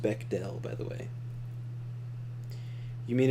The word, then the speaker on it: Bechdel: about cannot be another man but bechdel is bechdale is pronounced bechdel by the way you mean if it meets